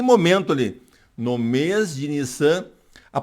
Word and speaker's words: Nisan: ali, no mês de Nisan, a pronúncia é Nissan, com 2 S's, né? A gente pronuncia como se fosse um S só porque está em português, mas o som do hebraico é Nissan, né?